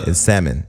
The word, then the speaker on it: salmon: L say salmon salmon you don't say salmon it's salmon the L is silent okay salmon CET balls